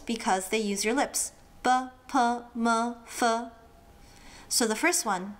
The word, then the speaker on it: ㄅ: BP-m. So, the first one, B. Think of a burger. Now, get rid of the urg and you get B.